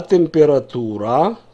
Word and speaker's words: температура: А температура? Температура, я здесь забыл ударение отметить, не на последнем слоге.